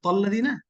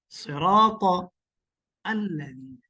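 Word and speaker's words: صِرَاطَ الَّذِينَ: হ্যাঁ, তো এই যে জিনিসগুলো যদি জিজ্ঞেস করি নাকি যে সিরাত আল্লাযিনা কয়টা শব্দ, বলবো যে সিরা একটা শব্দ, তল্লাযিনা এটা তল্লাযিনা না, সিরাত আল্লাযিনা।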